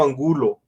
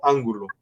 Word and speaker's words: Angulo: Para mí es un gusto, y sí, muchas gracias por todo, por la oportunidad, y mi apellido Angulo, no Ángulo.